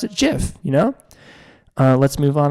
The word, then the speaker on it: GIF: respect for the creator I think you should pronounce it jiff you know let's move on a little bit